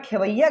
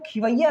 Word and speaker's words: खेवैया: अगर मैं खेवैया की बात करूं तो वो खिवैया नहीं होता, आप उच्चारण करें खेवैया, तो खेवैया ऐसा थोड़ा ना, खेवैया तो ऐसा लिखते हैं ना, ये हो गया खेवैया।